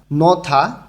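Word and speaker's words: 넣다: নথা রাখা, হিউত বাচ্চিমের পরে যখন দিউত আসে তখন এই দটা থয়ের মতন উচ্চারণ হয়, নথা রাখা।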